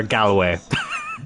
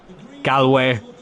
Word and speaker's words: Galway: or as most people like to pronounce it who aren't from here, Galloway.